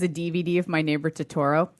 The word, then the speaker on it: Totoro: DVD of my neighbor to Toro it's a Troma release ha I kid you not my neighbor I think it's pronounced Totoro Totoro that's it's a Troma release I